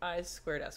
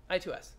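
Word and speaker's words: I²S: I squared S inter IC sound, pronounced I squared S, which I'm never going to say again, I2S.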